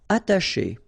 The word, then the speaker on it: attacher: Attacher. Okay, you don't pronounce the double T, okay, ata, but then remember, C and H together, they will produce this sh sound.